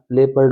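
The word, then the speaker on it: leopard: option बिल्कुल right होगा लेपर्ड इसका उच्चारण ध्यान रखना लेपर्ड होता है स्लिंग य राइट होगी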